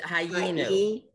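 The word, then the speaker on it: הָיִינוּ: But you should pronounce the yud. I don't, you sort of did. It's ha'inu. Ha'inu. Ha'inu. The yud is pronounced as a vowel because there's okay. Two, there's a vowel underneath it.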